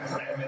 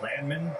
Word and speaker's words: Landman: Landman is there again. You know, his last name it's pronounced Landman. Landman. but he says he likes it when he makes a big play. It's landman.